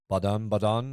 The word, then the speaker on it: Baden: Sorry, they don't because they don't have a so much. Like it's more like okay. It's not like it's the soft sound instead. Yeah, like cat in German is Ketze. It's almost like an AE. Like they don't have A by itself. It's either AE or AO kind of like pronunciations.